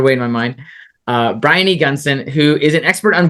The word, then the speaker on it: Briony Gunson: Brian Gunson. Tell me, make sure I got that pronounced right.